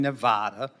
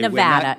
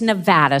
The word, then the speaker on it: Nevada: a mon point in Nevada okay nada it's Nevada sir please say it correctly it's Nevada if a veteran lives